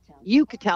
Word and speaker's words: Uchitel: I'm actually sitting in the backyard of a beautiful home of Rachel Uchitel. How do we say it? Uchitel. I always say her name wrong.